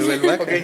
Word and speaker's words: Nouvelle Vague: Mi pronunciación malísima, Nouvelle Vague, se dice. Nouvelle Vague, Ok, ¿sí?